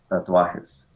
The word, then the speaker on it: tatuajes: How do you say tattoos in Spanish? Tatuajes.